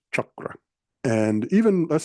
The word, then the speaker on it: chakra: your class and stuff it seems a little more Shakra you know and all but no it's chakra and even let's say